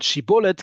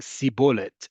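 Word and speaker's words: שיבולת: And they couldn't say Shin, they could only say Sin. So when they said Shibolet, they ended up saying Sibolet, and they were understood to be infiltrators and were dealt with accordingly.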